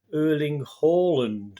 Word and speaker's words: Erling Haaland: He's got some great images there of Erling Haaland. Yes, pronounced correctly. Yes, we were being told by Scandinavians that it was Erling Haaland, it should be pronounced.